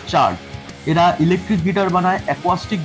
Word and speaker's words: Chard: থাকছে ইলেকট্রিক গিটারের উপর সি এইচ এ আর ডি বলে একটা কোম্পানি আছে চার্ট উচ্চারণটা হলো চার্ট এরা ইলেকট্রিক গিটার বানায়